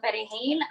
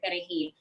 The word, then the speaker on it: Perejil: to say the word Perejil. Haitians can't pronounce the R because of, they speak Creole. So it was more difficult for them to pronounce the R in Perejil.